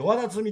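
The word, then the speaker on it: 海神: わだつ、海神って書いてわだつみって読むんですけどね。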